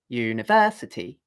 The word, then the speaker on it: university: So if I say, for example, the word university, it's dun da dun da dun. 1, 2, 3, 4, 5. 5 syllables. The accented syllable is 1, 2, 3. It's the third syllable. 1, 2, 3, 4, 5. Because I go versity like that.